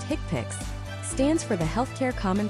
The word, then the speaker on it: HCPCS: HCPS level two, HCPCS, pronounced hickpix, stands for the healthcare common procedure coding system.